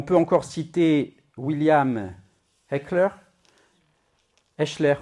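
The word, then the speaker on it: Hechler: Et puis on peut encore citer William Heckler, Hchler on dit, mais on me dit il faut dire Heckler.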